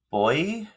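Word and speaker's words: Boii: G or The gales okay the pxs the boy that's how it's pronounced and it's spelled b o i i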